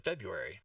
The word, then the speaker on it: February: is silent though well this first R is silent in February no yes I disagree